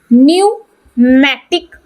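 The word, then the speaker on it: pneumatic: bone का न्यूमेटिक bone P silent रहता है न्यूमेटिक बोन ये न्यूमेटिक बोन इन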